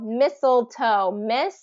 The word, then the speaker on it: mistletoe: standing under it with so mistletoe Soul has that dark l in the middle toe so it's that when I ever I do a capital O it means the the name of its letter or the long o so toe same same toe as like my pinky